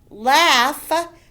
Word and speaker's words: laugh: you with a k laugh the gh says an f sound listen were beautiful and